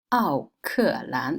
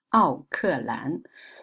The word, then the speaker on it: 奥克兰: 中国的人口比新西兰多了。Now, the biggest city of New Zealand, 奥克兰. This is how Chinese people call Auckland, 奥克兰. So Auckland is pretty much pronunciation of Auckland, 奥克兰.